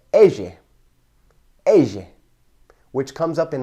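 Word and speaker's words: elle: Next are the letters double L, which are pronounced ege, ege, which comes up in the words like lluvia or me llamo. And it's pronounced with a y sound, y, much like our letter Y.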